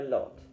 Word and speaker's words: Lot: The locale is the Lot, rhyming with hot instead of with lou, as in lou and lo and behold.